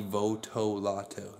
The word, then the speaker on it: Votolato: right now he's really awesome rock on rocky Votolato that's how you say it piece wrong one